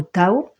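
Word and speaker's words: תו: Alors voilà comment ça s'écrit Tav, ça se prononce comme ça, Tav ou Tao.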